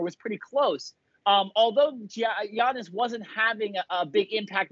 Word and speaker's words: Giannis: to come back or giannis excuse me i've been pronouncing his name wrong for a very long time i finally figured out you just pronounce it with a y it's super easy um but giannis comes